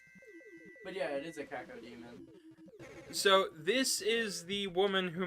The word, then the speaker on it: cacodemon: The floating eye, big mouth thing makes me think of the cacodemons. I think that's how you say it.